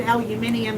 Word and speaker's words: aluminium: laughing at me because when i said aluminium and he came on and said we we decided to pronounce all the letters and i went okay